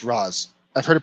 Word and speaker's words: Ra's al Ghul: It's pronounced Raz. Yeah, I've heard it pronounced both ways, Ra's al Ghul and Ra's al Ghul. In Batman the Animated Series and Arkham Knight, the Arkham games, it's pronounced Raish, but I've heard it pronounced Raz as well.